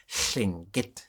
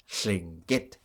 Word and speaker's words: Lingít: So Tlingit is not how we speak our language. We say Lingít, and there's a high tone at the end, Lingít.